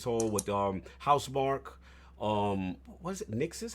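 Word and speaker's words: Nixxes: Nixus? How you pronounce it? So? Nixus.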